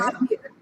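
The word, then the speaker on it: Javier: জে এ ভি আই ই আর, এটা উচ্চারণটা কি হতে পারে? হাভিয়ার হ্যাঁ, হাভিয়ার হাভিয়ের, হাভিয়ার এক্স্যাক্টলি, হাভিয়ের।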